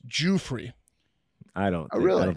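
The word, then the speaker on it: Giuffre: let you go but we've been i've been mispronouncing i believe mark was going to say virginia goofray it's jewfrey i don't i really don't think you can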